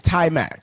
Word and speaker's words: Taimak: also Taimak? needed the Vanity trifecta on the Taimak? podcast. That's right. Yeah, it is. It's Taimak. Taimak. It's Taimak. It's Taimak. Taimak. Taimak.